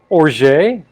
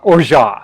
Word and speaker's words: orgeat: to drink pronounce it or jay or ja or ja i think you pronounce it or ja and just swallows the t because it is french in origin and most of the